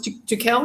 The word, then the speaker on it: Tuchel: Don't know about Thomas Tuchel, if that's how you say it, from Germany, I think. Thomas Tuchel, yep.